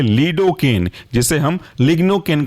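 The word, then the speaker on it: lignocaine: इसके अंदर का महत्वपूर्ण एग्जाम्पल है लीडोकेन, जिसे हम लिग्नोकेन के नाम से भी जानते हैं। लीडोकेन की स्पेलिंग है लीडो, LIDO, और केन, CAINE, लीडोकेन।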